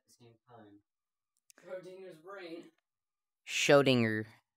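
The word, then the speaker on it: Schrödinger: Schrodinger. Yeah, that's how you say it, Ethan.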